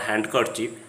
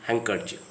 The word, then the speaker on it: handkerchief: Again, the D is sometimes silent after an N or before an N.